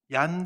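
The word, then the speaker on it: Jan Hus: 헤른후트에 대해서 말씀드리려면 얀 후스에 대해 먼저 말씀을 드려야 합니다. 영어로 표기하면 존 후스가 되지만 이 후스가 체코 사람이기 때문에 과거에는 보헤미안 왕국의 사람이었기에 그 나라의 발음 그대로 사용하여 얀 후스라고 부릅니다.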